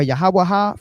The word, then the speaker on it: Yahawah: So, the pronunciation of Yahawah comes from the old head wide head.